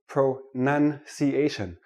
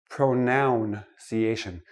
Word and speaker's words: pronunciation: start with this word pro none see asian not pronoun see asian it is not a pronoun a pronoun is i